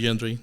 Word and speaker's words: Yendry: yendri it's perfect you can call me yendri Dr yandre is fine first thing I need